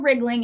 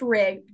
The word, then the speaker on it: Riegling: It's Owen Riegling. It's R-I-E, not like just rig. The E is silent.